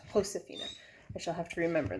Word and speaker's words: Josefina: Remember that in Spanish, J is pronounced like H, which means Josephina's name is pronounced Josefina. I shall have to remember that because I have a daughter named Josephina. Josefina.